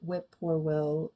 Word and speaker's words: whippoorwill: "Tomorrow at midnight," said the first, who appeared to be in authority, "when the whippoorwill calls 3 times." When the whippoorwill. That's weird that it's spelled like that. Whip-poor-will. Okay.